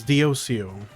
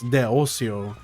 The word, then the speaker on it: Deosio: It's Diosio. Or we're act we're being real here. It's Deosio, but for the sake of like streaming, it's Diosio.